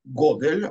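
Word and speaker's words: גדל: Кишем Адонай Экра Аву Годель Годель, Годель, ударение на первый слог, да.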